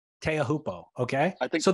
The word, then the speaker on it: Teahupo'o: Teahupo'o. Teahupo'o. Okay. I think so. I think he throws the glottal stop in there too, though.